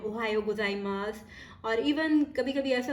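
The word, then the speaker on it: おはようございます: Ohio गोजाइमास को किस तरह से प्रोनाउंस करते हैं, ओहायो गोजाइमास, ओहायो।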